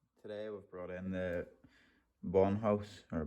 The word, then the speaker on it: Bondhus: well today we've brought in the bomb house or bondhouse bondhus however he pronounced it t handles and hex and torx